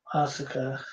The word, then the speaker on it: Asuka: Asuka. Yeah, that's how you say her name.